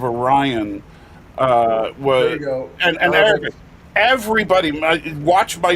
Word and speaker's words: Orion: of all I don't why they started calling I think that the word oron instead of Orion uh was everybody watch